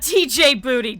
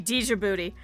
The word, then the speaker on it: Djibouti: And he would always talk about how, not TJ Booty, Djibouti.